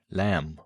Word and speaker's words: lamb: Silent B and climb, thumb, lamb was once spoken, but disappeared over time, though spelling didn't change.